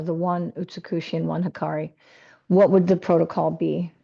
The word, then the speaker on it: Hikari: Not hickory. Can you How do you pronounce it? Hikari.